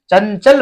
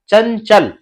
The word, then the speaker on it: चंचल: का वर्ण है, तो इस अनुस्वार का पंचम वर्ण के रूप में क्या होगा, उच्चारण होगा। इसलिए यहां पे इसको आप अंग की मात्रा को आधा यह समझे, इसलिए चंचल पढ़ा जाता है।